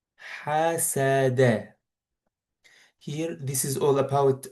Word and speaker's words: حسد: So these three letters should be pronounced with fath. Ha, sa, da. حسد.